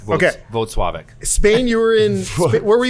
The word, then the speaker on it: Włocławek: White Claw, Poland. Correct. Okay. Włocławek.